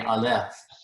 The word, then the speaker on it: Aleph: In the majority of Hebrew words, the accent's going to be on the last syllable. So this would be the Aleph.